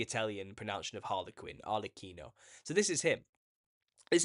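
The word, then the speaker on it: Arlecchino: c h i n o Al so it's pronounced arino this the Italian pronun of Harley Quinn arino so this is him this is the new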